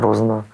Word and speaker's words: Розанова: RozAnova, well something there... You just pronounced your own surname incorrectly. RozAnova? Well I'm talking with you now, I can say ROzanova.